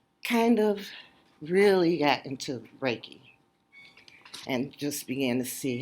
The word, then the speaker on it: Reiki: is and it still our AI ki is pronounced Reiki it is a form of energy healing and